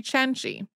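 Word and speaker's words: Cenci: we had ever done a podcast on bayatriti chenji who most English speakers would pronounce as Beatrice if you're thinking these letters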